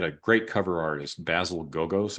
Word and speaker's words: Gogos: also like at the time that he had a great cover artist, Basil Gogos, I think is the way you would pronounce his name, who did these kind